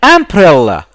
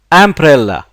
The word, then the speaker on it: umbrella: a before the word university I want an umbrella notice this letter here is pronounced a umbrella umbrella the letter this letter the letter U